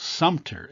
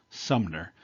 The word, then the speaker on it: Sumter: this fort is called sumter s-u-m-t-e-r not fort sumner as i hear it often mispronounced so they they retreat